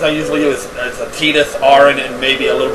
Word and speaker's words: Tidus: Yeah, it's pronounced Tidus. When I first got this game, I always thought it was pronounced Titus. But if you play the City of Final Fantasy and you play like Kingdom Hearts, that kind of stuff, everybody now pronounces it Tidus. So that's how I'm going to pronounce it because that's how everybody else pronounces it.